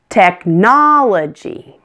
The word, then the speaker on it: technology: about this one technology it's also four syllables tech na la G here the suffix is l OG y so stress is before that on the syllable na technology one more opportunity 5